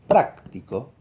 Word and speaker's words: práctico: En cambio, si digo práctico, la voz más aguda está en la primera sílaba, ¿no?